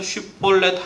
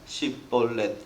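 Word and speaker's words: 쉽볼렛: 발음이 안 되는 겁니다 그래서 특정 단어 슈퍼넷이라는 단어를 가지고 이제 시험을칩니다 누가 지나가면 딱 붙들고 해보라고 하는 거죠 근데 에브라임 사람들이 아무리 자기의 모든 힘을 다해서 슈퍼넷 하려고 해도 꼭 씹벌렛 이렇게 되는 거예요 이렇게 발음하는 사람들은 다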